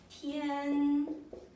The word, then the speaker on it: 天: 如 second tone 如 as if as okay as the sky okay that's in Chinese it pronounced 天 okay 父父敬敬如如天天 respect your father like you respect the sky.